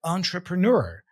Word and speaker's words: entrepreneur: a very common word entrepreneur so we got here two schw sounds so entra uh TR and another one PR PR so entrepr Entre entrepreneur and